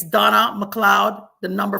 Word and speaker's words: McLeod: C's in my name, but it's actually spelled MCLEOD. MCLEOD. It's pronounced McLeod, but it's MCLEOD, and it's the number 4 and then YOU.